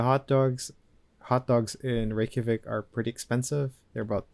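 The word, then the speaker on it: Reykjavík: I pronounce this again Reykjavik Reykjavik Reykjavik Reykjavik Ricky the J is like a why I see in the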